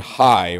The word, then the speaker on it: Hai: beginning, between Bethel and Hai," or it can also be pronounced Hay, "unto the place of